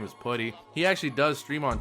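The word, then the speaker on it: Puhty: Shout out to my boy, his name is Putty. He actually does stream on Twitch. Make sure you guys do check him out. Like I said, his name is Putty, which it's spelled P-U-H-T-Y.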